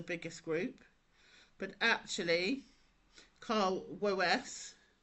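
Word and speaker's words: Woese: Now I never know how to say this name. I always say it as Wes. Wo E S E.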